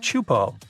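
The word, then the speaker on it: Teahupo'o: all the name itself is a mouthful it's pronounced chupo and it means broken skulls in tahan yeah you heard that right broken skulls the way waves at chupo are massive and can reach up to 23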